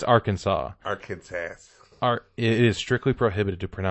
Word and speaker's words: Arkansas: It's Arkansas. Arkansas. It is strictly prohibited to pronounce Arkansas incorrectly.